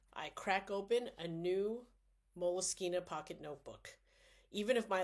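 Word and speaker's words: Moleskine: It's actually pronounced Moleskina, but people will say moleskin.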